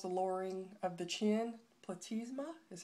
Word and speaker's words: platysma: Platysma is how you say that.